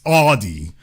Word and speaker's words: Audi: You still got some people from the rap music era pronouncing it Audi. It's Audi because it comes from sound, like audio.